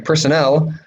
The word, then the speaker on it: personnel: um personal i'm sorry personnel stress is on the last syllable personnel means employees it's like